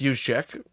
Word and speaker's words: Juszczyk: Well, it's Juszczyk. Juszczyk, okay, Kyle Juszczyk. Yeah. Spell that.